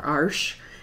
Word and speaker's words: Arches: This is Arches 140 pound cold press paper, or Arsh if you pronounce it that way.